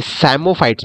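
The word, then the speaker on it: psammophytes: गया दोस्तों आपको ओके साइमो फाइट्स मतलब देखो पी यहां पे साइलेंट है साइमो फाइट्स मतलब येसे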